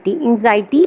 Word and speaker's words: anxiety: एंजाइटी एक word है, ANXIETY, एंजाइटी pronounce करेंगे।